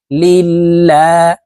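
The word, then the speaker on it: لِلّٰهِ: হরফে জের থাকার কারণে এই লামকে লা অর্থাৎ পাতলা ভাবে পড়তে হবে লিল্লাহ হাজেরহি লিল্লাহি আলহামদুলিল্লাহি র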